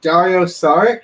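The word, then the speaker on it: Dario Šarić: week uh i'm looking um and so uh dario saric did i pronounce that right yeah he went back to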